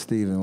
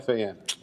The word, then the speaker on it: Stephen: Yeah, Stefan. When people ask me, I say you pronounce it just like Steph Curry.